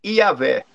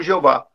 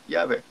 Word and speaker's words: Iavé: Então, seria Iová, ou então Jeová. Porque então, no hebraico não tem o J. Então, o mais próximo hoje é essa pronúncia aqui, Iavé.